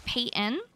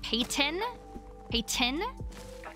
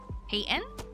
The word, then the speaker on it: Payton: my name wrong so my name is Payton the soft t uh some people say my name like payon Pon which is close but it's kind of a soft tea and more of a Payton um but the one